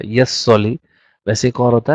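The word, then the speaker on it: jus soli: मैंने आपको ये वर्ड का प्रोनाउंसिएशन जस्ट नहीं होता, यस होता, याद रखिएगा, यस सॉली.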